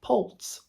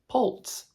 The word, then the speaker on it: poults: But actually, small turkeys are called poults. Poults. P-O-U-L-T-S, and I'm assuming it's pronounced poult, like poultry, because they are poultry.